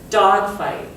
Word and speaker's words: dogfight: So in the word dogfight, if we look it up, you can see there's 1 and 2. So which one would get a stronger punch? The first one, because the first one is the primary, stronger of the two. So we would say this word, dogfight. Dog gets more emphasis.